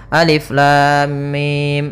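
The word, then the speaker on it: الم: enam harakat saja maka cara yang benar membacanya adalah seperti ini Alif Lam Mim panjangkan dulu lamnya kita ulang kembali Alif Lam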